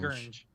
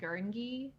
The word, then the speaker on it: Gurnge: is that Gurnge. Gurnge. dude? I've been saying Gurngi for so long.